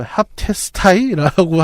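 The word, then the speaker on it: ἅπτεσθαι: 이거 합테스타이라고 합니다.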